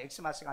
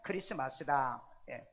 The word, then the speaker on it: 크리스마스: 이제 그 엑세스 아니야 그런데 엑스 마스가 아니고 크리스마스다 표기는 이렇게 되어 있는데 이걸 이제 라틴어를 모르는 사람 그리고 이제 헬라어를 모르는 사람은 xm라고 읽었는데 우리는 크리스마스로 이렇게 있는다는 걸 기억하시고요 그 다음에